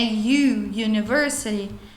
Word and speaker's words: university: University, o som é como se tivesse um Y, university.